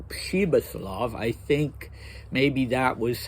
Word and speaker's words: Pribislav: And Thomas Mann makes a point of saying that it should be pronounced Pribislav, but I don't think that's true. Maybe, I speak Russian. It's not really a Russian name, but still I doubt it's pronounced Pribislav.